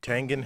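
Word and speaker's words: Tengen: the nes that's right tangent has a hard g just like gif this version is one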